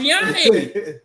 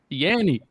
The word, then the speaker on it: Yanni: I just didn't know it was pronounced Yanni. How else would you pronounce that? First of all, I'm from Georgia. Don't ask me those questions. How you pronounce that? It would have not been an O sound.